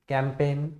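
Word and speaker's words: campaign: यहाँ पे देखोगे सारे वर्ड्स के अंदर उनके स्पेलिंग के अंदर जी लेटर दे रखा है, लेकिन जब उनको बोला जा रहा है तो उस समय हम जी का इस्तेमाल नहीं कर रहे हैं, ठीक है।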